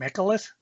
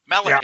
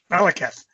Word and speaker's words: Malekith: Michalith? Honeyhole? I have to actually see it. Yeah. It's one of those where he was in one of the Thor movies. Malekith. Yeah. Malekith.